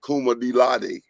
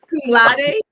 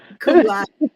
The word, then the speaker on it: cum laude: She's trying to be Kuma Dilade. How you say that word? How they say it? Y'all help me out. Akuma, Cum laude. Kuma Kuma Tatari. Cum laude.